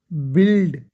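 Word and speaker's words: build: बनाना, बिल्ड, बिल्डिंग बोलते हैं, बिल्ड, बिल्ट, बिल्ट, बिल्ड, ठीक है? यू आई की साउंड जेर आई है, बिल्ड, ठीक है?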